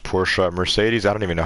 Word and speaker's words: Porsche: Anyways, yeah, Porsche is actually pronounced Porsche.